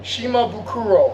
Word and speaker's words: Shimabukuro: No silence, no consonant, just the way it's spelled.